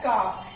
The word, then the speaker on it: calf: Children, we pronounce it एज काफ. एल is silent. इसमें जो ये एल है, ये क्या है? साइलेंट है. इसको हम लिखेंगे, इस एल लेटर को लिखेंगे, लेकिन बोलते समय, प्रोनाउंस करते समय इसका साउंड नहीं आएगा.